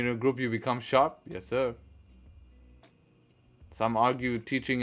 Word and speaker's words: Sharpe: improve yourself it's it's inevitable nah it's not pronounced Sharpie come on man sharp how about ICT n